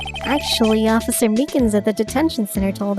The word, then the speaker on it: Meekins: it actually officer meekins at the detention center told us that poor little dogi poor guy i keep getting his name wrong and calling him meekly he said that